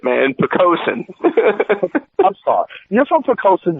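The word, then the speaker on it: Poquoson: uh you live in poosa see I pronounced it right this time poosa no you didn't I know P pen there's an n on the end of it man picosen I'm sorry you're from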